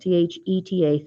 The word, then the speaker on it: theta: In general, the tangent of an angle, I'll just put, they always use the Greek letter theta, and theta it's pronounced T-H-E-T-A, theta, and it looks like this.